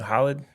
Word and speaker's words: Haaland: What is Now, how do you pronounce his name? Holland? Erling Haaland, yeah.